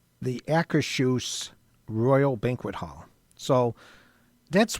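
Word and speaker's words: Akershus: it is pronounced the Akashuse Royal Banquet Hall.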